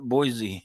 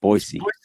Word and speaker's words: Boise: It's not Boise. It's Boise. Boise with the S.